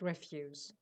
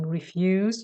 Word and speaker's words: refuse: for that but yes when you change the stress and the pronunciation instead of saying refuse you say refuse then it means stuff that you don't want okay discarded stuff yeah